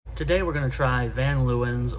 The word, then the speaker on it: Van Leeuwen: we're going to try van lewins or Von laven I think that's how it's pronounced I looked it up